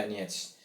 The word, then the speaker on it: Donetsk: Terus yang lain yang gol lebih keren lagi tuh yang gol margin besar tuh Shakhtar Donetsk bacanya Donetsk, Shakhtar Donetsk itu di kandangnya RB Leipzig 4-1.